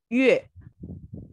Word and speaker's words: 月: Ini gimana bacanya? Ya, silakan diikuti saya. Setelah saya, Yue, 月 Yue, 月 Yue, 月 Yue, 月 Yue.